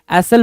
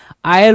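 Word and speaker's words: aisle: और मैं आपके प्रोनाउंसिएशन के तौर पे, ताकि ये आपको याद रहे, एसल बोलते नहीं है, प्रोनाउंसिएशन इसका एसल होता नहीं, आयल होता है।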